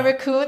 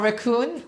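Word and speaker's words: WRECKON: So my raccoon, our raccoon, it's spelled W R E C K O N. So but it sounds like a raccoon like this like the animal.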